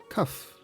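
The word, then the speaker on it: כף: For Kaf, or K, they drew the palm of a hand, which is pronounced Kaf.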